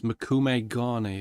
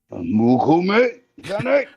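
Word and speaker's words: mokume-gane: It's Makume Gane, isn't it? Yeah, but you're not saying it right again. Sorry. How do you say it? Mukume Gane.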